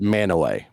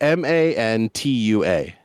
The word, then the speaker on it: Mantua: Manaway is spelled Mantua, or the first time I ever read it and never heard it pronounced was Mantua.